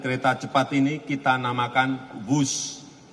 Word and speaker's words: Whoosh: o o s h dibaca wus ini diinspirasi dari suara yang melesat dari kereta berkecepatan tinggi ini dan singkatan dari waktu hemat operasi optimal sistem hebat sekali lagi w h o o s tapi membacanya wus keret cepat Jakarta Bandung